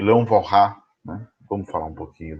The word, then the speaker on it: Walras: O Walras criou... Mas Walras aqui não é uma pronúncia horrorosa do francês, né?